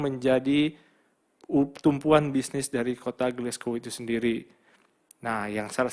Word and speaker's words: Glasgow: Nah, kota Glasgow ini memang tulisannya Glasgow, tapi bacanya Glasgow.